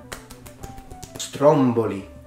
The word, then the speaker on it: Stromboli: the island of well if you said stromboli no stromboli Stromboli I've already mentioned this idea of people tend to put the stress where Italian usually puts it as a language even when they're not supposed to I mentioned it on